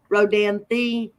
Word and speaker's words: Rodanthe: Kevin Costner my God so it is pronounced the on the end Rodanthe ah there you go